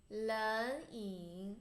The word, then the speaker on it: 冷饮: Don't pronounce it into third tone because there's two third tones you pronounce. The first one to second tone. 冷饮 hot drink 热饮 first